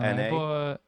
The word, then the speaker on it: Solana: And if am I saying it right? Solana? Yeah, Solana. Yep.